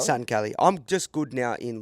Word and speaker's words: Satin Cali: Satin Cali? Satin Cali.